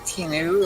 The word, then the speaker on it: TNU: anyone else want to introduce themselves uh i'm tinu uh tnu on most places i i just